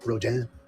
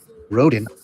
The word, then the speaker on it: Rodin: Product description: the thinker sculpture by Auguste Rodin that looks like it should be pronounced Rodin because it was R-O-D-A-N in my past, is one of the most famous pieces of art in the last 200 years.